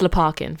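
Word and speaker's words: Lopakhin: It's Leparkin, for anyone wondering. Carmen did a not prank on me when I was in rehearsal process, and I was like, "How do you pronounce this name?" She was like, "It's Lopkin," and I had this line. Came on stage. I go, "Lopkin's here. Leparkin's arrived," and I just got it completely wrong.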